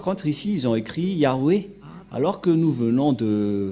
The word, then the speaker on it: Yah: dieu juif s'appelle ya Yod et he c'est bien clair donc il y a plus rien à contredire la parole du grand-père Moché est très claire ça se prononce ya et comment on va